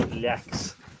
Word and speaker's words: leac: LEACS, memorial lacks, LEAC, pronounced lack.